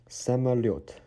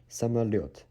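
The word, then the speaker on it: самолёт: Самолет. Самолет. Every time you see yo with little two dots on the top, the stress sound is always on this letter.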